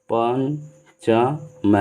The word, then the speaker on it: पंचम: उसी तरह से अगर प पर कहीं बिंदी है तो उसका जो उच्चारण होगा वो म से होगा। जैसे पंचम है, तो यहाँ देखने पर न लग रहा है लेकिन न नहीं है, इसका जो पंचमा अक्षर है म है उसको पंचम, मतलब ये जो है